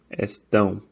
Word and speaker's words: estão: It's not estão. It's not vowel. It's estão, tão, estão, estão. Vão, vão, vão. So I guess one way you can practice if you say the word ow, right? But say it like nasally.